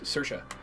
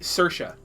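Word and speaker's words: Saoirse: his Guardian spirit's name it is not is not CA it is cersa but it's it's spelled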